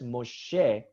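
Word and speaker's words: מֹשֶׁה: So Moshe is Moses pronounced as Moshe.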